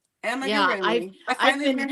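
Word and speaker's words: amigurumi: So, amarroomi. I finally learned how to say it right. Amagarroomi.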